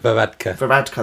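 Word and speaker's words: Varadkar: sad Ireland's prime minister Leo varadar vka vka that's how you say it thank you has announced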